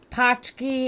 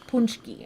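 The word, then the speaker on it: pączki: you so much Mark ever had a poki it's a Polish donut we get them every year it's pronounced punchki oh punchki sorry thank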